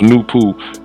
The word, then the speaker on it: Noopooh: by the mental powers of nature, called Noopooh, pronounced Noopooh, and the writers of this book, who has